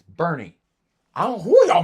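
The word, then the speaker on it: Burnet: They So name it's a city and they can't Bernie, say- not Born. It's Bernie.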